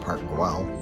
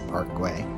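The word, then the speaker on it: Park Güell: um i learned that it is not pronounced park well it's a parkway so it was pretty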